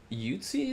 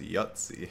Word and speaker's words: Yuzi: There's Yuzi is also, like, pushing out tons of content these days, and like I learned the other day it's pronounced Yutzi.